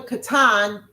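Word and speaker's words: קטן: No it's showing katan.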